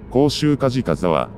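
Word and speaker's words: 甲州石班沢: 混同し、浮世絵には甲州赤飯沢と漢字で書かれていますが、読み方は、甲州カジカ沢、となっている作品なの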